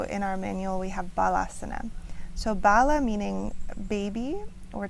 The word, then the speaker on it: Balasana: And in the Kripalu tradition that I learned it's more commonly known as GHARBASANA, but also in our manual we have BALASANA.